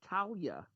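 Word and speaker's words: Taulia: to talia talia talia you pronounce the g there's no g it's t-a-u-l-i-a i thought there was a g in there there's nothing it's an o-g i'm telling you it's like talia or or talia or something like that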